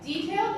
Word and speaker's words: detail: truth then detail okay detail is an adjective there are two syllables and the stress is on the first syllable detail okay detail as